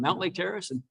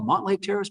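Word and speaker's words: Mountlake Terrace: And most of them said, like, yeah, this is Cindy from Mount Lake Terrace. But the pool one said, you've called the Mont Lake Terrace pool.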